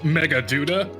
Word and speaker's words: Meghaduta: We have business at Meghaduta. Oh, in that case, permit me to direct you. Also, it's pronounced Megaduda tourists.